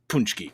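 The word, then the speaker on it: pączki: uh I'm glad you did Brandon this is pronounced punchki correct yes thank you I'm polish I should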